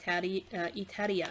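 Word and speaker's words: イタリア: that here this is it itaria which is the uh japanese pronunciation for italy okay yeah so it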